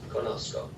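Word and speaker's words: conozco: there and conocer in the yo form is conosco c c o so when we're thinking about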